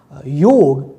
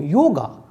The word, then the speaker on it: yoga: because we have this we put extra a in the name like buddh became buddha yog became yoga so that's we can say